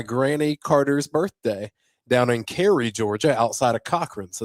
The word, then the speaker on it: Cary: Well, it's kind of pronounced Cary, you know. How you, C-A-R-Y? C-A-R-Y, but they kind of say Cary down there.